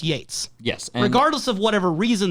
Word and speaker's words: Yeats: But it's still, no matter what circumstances happened, it's in the canon of the show that Pete Martell doesn't know it's pronounced Yates.